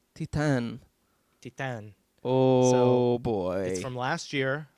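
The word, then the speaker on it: Titane: looks like it's pronounced titan that's what i thought yeah but no it's french and it's pronounced titan titan oh boy from last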